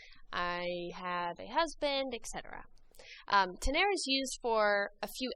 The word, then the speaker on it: tener: Today we're going to learn a quick, pretty simple grammar lesson about the verb to have, which is pronounced tener. Repitan, tener. Tener is used just like we use it in English to talk about things that we have or possess.